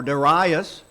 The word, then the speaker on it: Darius: to read about uh Darius is sometimes pronounced and or daras and there are two